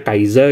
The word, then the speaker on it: Kaixa: kalian bacanya segue bacanya setelah gue tahu ternyata bacanya kaiza gitu jadi figure Kamen